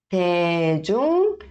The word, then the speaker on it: 대중교통: Então, na verdade, fica entre D de dado e T de tatu, tá? Então, fica um som aí no meio, tá? Então, fica 대중교통, tá?